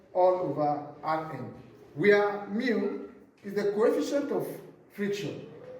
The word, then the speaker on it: mu: Mu is equals to F all RN where mu is the coefficient of friction. Mu is a Greek letter pronounced mu.